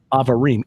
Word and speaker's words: Abarim: Bible as this mountain of Avarim, Abarim, but it's pronounced Avarim.